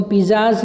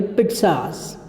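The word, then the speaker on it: pizzas: French bread पिट्ज़ा, ये जो हैं इसको हम पिज़्ज़ाज नहीं पढ़ेंगे, पिट्ज़ाज.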